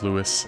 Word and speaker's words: Lewis: Or Lewis, excuse me, I keep calling him Luis, but I guess technically they refer to him as Lewis in the game.